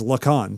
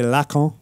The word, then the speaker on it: Lacan: he says look on so i figure if if la khan's son-in-law says look on and doesn't try to say la con then it's okay for everybody i mean i just think you know pronunciation's a fetish so just pronounce it however fair enough um but